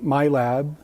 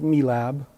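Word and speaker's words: MILAB: I was brought into what is known as the my lab some pronounced it me lab programs me and a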